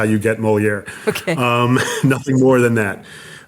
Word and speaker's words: Moleaer: And thank you for explaining that, because the way that you pronounce it sounds very French, but it's not spelt in a French way at all.